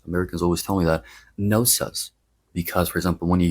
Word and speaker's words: Knossos: So it's Knossos and the stress goes on the last syllable.